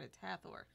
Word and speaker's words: Hathor: you then we have Hathor almost like my name Heather but it's not at a Thor some people would pronounce it like that but whatever what it